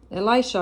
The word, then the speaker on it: Elisha: just happened here um who is elishah Elisha Elisha is called is pronounced um Elisha um was the servant or